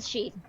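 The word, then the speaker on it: sidhe: she uh she's a sheet she's she yeah that is such a nightmare to take notes on okay the spelling is s-i-d-h-e but it's pronounced she yeah it's a celtic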